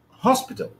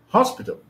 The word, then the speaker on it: hospital: be pronounced like this hospital hospital hospital it's on the first syllable it's on the first